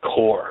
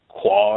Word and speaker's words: Quor: If you first look at it, everybody says Quor, or there's right. a lot of different renditions of it. And then we're able to say, no, it's just it's pronounced or spelled liquor minus the LI.